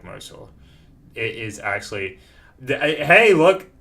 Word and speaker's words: Matt Mercer: It's not Marshall, it's Mercer.